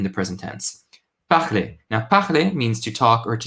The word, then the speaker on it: parler: But yet again, this is parler, different pronunciation of R.